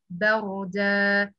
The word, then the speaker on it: بردا: Okay, you have to should pronounce that light than ra heavy. Ra heavy. Why ra heavy here, Amen? Because it's preceded by fatha.